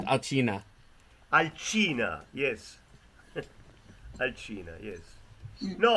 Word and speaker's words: Alcina: Alcinda. Arcina. Alcina.